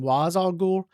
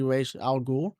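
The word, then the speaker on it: Ra's al Ghul: Al which I think some people call him was Al but I'm pretty sure it's supposed to be pronounced R let me know if I'm wrong in the comments but I'm pretty sure it's supposed to be R Al G I would give him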